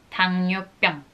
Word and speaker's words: 당뇨병: Pero se pronuncia 당뇨병.